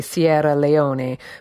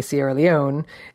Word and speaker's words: Sierra Leone: literally means lion mountains if you said it with the proper Italian pronunciation of course would be Sierra Leone but we say Sierra Leone and it's been called